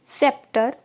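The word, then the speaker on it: sceptre: पहला वर्ड है हमारा सेप्टर सीजर्स साइंस इस तरह के वर्ड्स में हमारा जो लेटर सी होता है वह साइलेंट होता है अब इसके पीछे का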